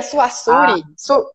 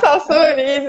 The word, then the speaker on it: Saussure: Socir, Não, o Saussure, eu não sabia nem pronunciar. Saussure. Eu lia ah, Suassuri, tá? Salsuri, E aí, Salsuri. Saussure, isso. Aí, eu peguei os livros, estudei, fiz a prova.